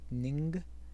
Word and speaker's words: Ng: It's by David Ning, NG, how you pronounce it, Ning.